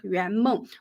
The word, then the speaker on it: 圆梦: By the way, Yuanmeng is the pronunciation of the Chinese word Yuanmeng, which means dreams come true.